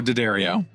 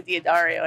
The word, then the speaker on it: D'Addario: ho daddario yup i'm i'm not going to call it d'addario or diadario anymore that's great i i'm sure you've heard some really weird ones too my personal favorite mispronunciation is daddy radio i bet some people